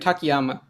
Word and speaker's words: Takayama: It's Teichmann and Takayama.